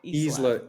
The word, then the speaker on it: Isla: You pronounced it Isla. See, I Isla want to Talent. pronounce it Isla. No, it's Yeah, Isla.